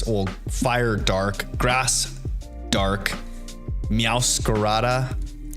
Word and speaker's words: Meowscarada: Having the dark fire incineroar, dark grass, or fire dark, grass dark, meowscarada, as I would try to properly pronounce it, instead of meowscarada. the gringo way.